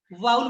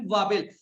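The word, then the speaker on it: vowel: इसको वाउल बोला जाता है ना कि वावेल।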